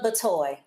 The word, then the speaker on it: Batoy: Is it Batoy or Bitoy? Just pronounce that for us. Batoy. Batoy.